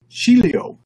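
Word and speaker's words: χίλιο: interesting that's thousand actually and it's pronounced chilio in fact listen hello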